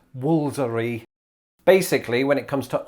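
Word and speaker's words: Woolfardisworthy: to remind everybody that this english village is pronounced woolsery basically when it comes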